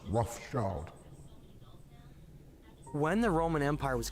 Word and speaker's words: Rothschild: Yeah, their name originates from Red Shield, Rothschild, but it's still pronounced Rothschild.